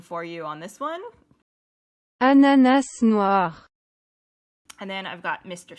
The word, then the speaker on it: Ananas noir: So let me get the proper pronunciation for you on this one. Ananas noir.